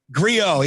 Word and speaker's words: Griot: And I hope I'm pronouncing, Jeremy, I'm going to jump in. Griot? Griot? Griot, yes, and there we go.